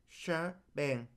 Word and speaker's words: shebang: The pause and exclamation point here are pronounced shebang.